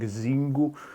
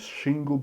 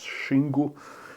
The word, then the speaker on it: Xingu: world are actually saying zingu but the correct pronunciation is shingu because this is how it's pronounced in Portuguese and I've seen so